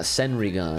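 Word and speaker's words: Senrigan: can't see directly with my senringon clairvoyance a senrigun that's what he says that's how you say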